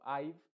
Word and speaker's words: I've: Por ejemplo, I've, esa es la forma en cómo se va a pronunciar. Recuerda que la E al final de las palabras en general no se pronuncian.